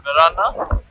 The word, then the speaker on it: Varenna: So we finally reached Lake Como, and we are at the village of Varenna, which is pronounced as Verana.